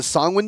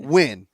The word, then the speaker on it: Songwin: So Songwin is how you pronounce their name. If you get it wrong, wait, we will Songwin? find Songwin. Song. It's like Penguin. Songwin. Or like penguin, yeah. Songwin. You take the win from penguin and you take the